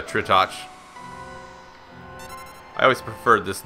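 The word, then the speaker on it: Tritoch: now we Face Off against retouch or try touch however you want to pronounce it I always pronounce it uh tritach I always preferred this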